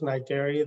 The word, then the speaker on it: Cnidaria: It's pronounced Cnidaria. The C is silent.